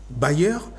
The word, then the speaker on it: bailleur: Ça sonne bailleur, mais ça s'écrit de manière différente.